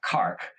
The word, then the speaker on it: Cork: And so I had gone down to Cork, Ireland, which they pronounce Cark.